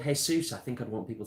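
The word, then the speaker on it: Jesús: Jesus and it's like that's not how it's pronounced honey if I was cold if I was called hey soos I think I'd want people to call me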